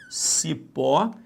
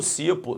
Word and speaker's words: cipó: Aí, Alexandre, de repente, quando eu estava olhando, eu botei a mão no cipo. Não, você botou a mão no cipó. Então, se botou no cipó, é uma oxítona, ok?